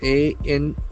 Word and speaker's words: anomaly: To file report on anomalies, A-N-O-M-A-L-Y. So as we know, L-Y endings can be adverbs, but here it is a noun meaning. Anomaly. Anomaly, anomaly. That's beautiful. The accent for the second syllable.